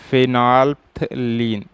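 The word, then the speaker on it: phenolphthalein: ठीक है, ये OH और ये OH, इसको क्या बोलते हैं, फिनॉप्थिलीन। क्या बोलते हैं, फिनॉप्थिलीन, फिनॉप्थिलीन। देखिएगा, फिनॉल्फ्थलीन, थलीन।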